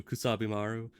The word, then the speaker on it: Kusabimaru: know, I don't know, this would probably be actually pronounced the same in English as, you know, Kusabimaru, but it in Japanese it's very much like the sound ku is its own thing, and then sa is its own thing, and it's very much, you need to pronounce it like that, you don't mix them together.